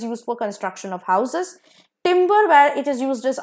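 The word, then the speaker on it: timbre: तो नेक्स्ट वड पेरस टिंबर same pronunciation एक में ई आर है दूसरे में आरई है तो ईआर वाला टिंबर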